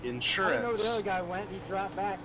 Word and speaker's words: insurance: about rude yeah let's putting the emphasis on the first syllable of a three syllable words generally a pretty southern thing to do the more normal American Way would be umbrella or insurance sitting on the screen